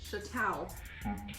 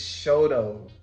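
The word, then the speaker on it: Chouteau: trying to pronounce it and why did you pronounce this street that to me when I first moved here was Chateau oh which Hotel I mean she'll tell it's Shoto what she first said it I was just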